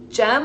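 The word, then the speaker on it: JHM: energy grid yester yesterday gem I think is how you say your name j h m gem thank you for the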